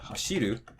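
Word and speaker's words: 走る: Then for 3-syllable verbs like taberu or hashiru, again, counting from the end, ru, be, the drop's going to be after the be. And then ru, shi, the drop's going to be after the shi.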